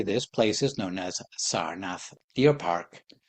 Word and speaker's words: Sarnath: In the present day, this place is known as Sarnath Deer Park. Asian people pronounce it Saranath.